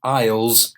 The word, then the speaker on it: aisle: and a basket and the aisle you of aisles in the supermarket it's a corridor you yeah three difficult words of pronunciation very important but the spelling difficult so